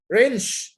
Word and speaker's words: wrench: W is also sometimes not pronounced.